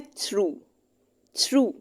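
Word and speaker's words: through: इसके बाद है थ्रू। अब यहाँ पे आपने इसकी प्रोनाउंसिएशन सही चेक करनी है, ये थ्रू है, थ्रो नहीं है।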